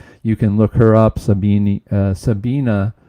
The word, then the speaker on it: Sabine: Sabina, I think, is the way they pronounce it. I was told I was pronouncing that wrong by one of my viewers, but I think it's Sabina, but it's spelled with an E at the end.